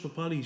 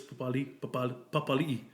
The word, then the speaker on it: Papali'i: They called him Papali, but they call the Warriors Papali'i. So spelt the same.